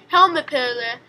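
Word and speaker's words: helmipöllö: tails because of this the finished name for this bird is pronounced helmet pillar which means pearl owl because of the pearl-like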